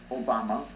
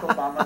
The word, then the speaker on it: Obama: And this is who Barack Obama, which rhymes with Osama, Barack Obama, that rhymed with Osama,